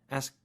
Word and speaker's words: ask: sound at the end make sure you get the K don't say s ask right it's too weak